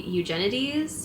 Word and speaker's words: Eugenides: It'll be there by Jeffery Eugenides, I think is how you say his name.